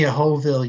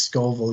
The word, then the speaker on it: Scoville: know how spice Works how many hooville units is it and yes I know I mispronounced Scoville units um so okay so